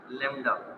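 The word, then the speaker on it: lambda: ये जो सिंबल नजर आ रहा है, इस सिंबल को हम पढ़ते हैं लैम्डा। बी साइलेंट है, ये बी साइलेंट रखना है, बी साइलेंट रखना है, इसको पढ़ते हैं लैम्डा।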